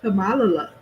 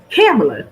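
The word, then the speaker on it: Kamala: name CA her name Camala CA I hate to do that just make somebody name wrong is it camela or Camala camela that's what it is so Trump his wife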